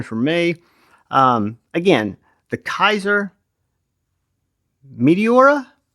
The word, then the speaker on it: Meteora: Again, the Kizer Meteora, and I say that because it's spelled Metora.